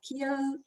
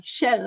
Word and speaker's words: Kjell: Is Kiel there? Yes, I see him. I'm sorry for mispronouncing your name, which is actually Kjell Larsson, whom I'm happy to introduce.